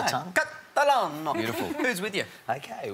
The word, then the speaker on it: Catalano: up, our carryover champs from South Australia, the Catalano family. Did I say it right, Jesse? You're spot on. It felt good when I said it. It was really just fun rolls to off say. The tongue. Catalano.